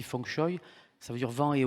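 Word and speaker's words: feng shui: le la philosophie asiatique on appelle ça s'écrit fengchui mais ça se dit fchoy ça veut dire vent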